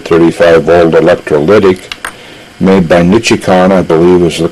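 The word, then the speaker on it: Nichicon: a 10 microfarad 35 volt electrolytic made by nichikon i believe is the correct pronunciation to start out with this particular capacitor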